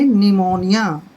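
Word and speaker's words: pneumonia: पी है गलत एन से पहले अगर पी है तो पी को हमने छोड़ देना है साइलेंट रखना है इसको पढ़ेंगे निमोनिया निमोनिया मेंस निमोनिया होता है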